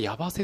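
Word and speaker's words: 矢橋: ヤバセか、これでヤバセって読むんだ。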